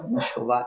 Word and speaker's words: Machová: E tem uma poliglota chamada Lídia Machová, eu acho que é assim que pronuncia o sobrenome dela, Machová.